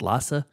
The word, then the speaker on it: Lasse: a movie from director lass halstrom I don't know if I'm pronouncing that l a SS e so it's Lassa lass lass lass L yes and what a prolific